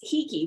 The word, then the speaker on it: Hiki: It's spelled Hiki, and it's Hiki, which is the Hawaiian word for able.